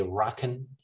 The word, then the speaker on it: and: know we say rock and coke dnr right we we don't do the the is gone and then we don't say and we just say rockin rocking coke dnr come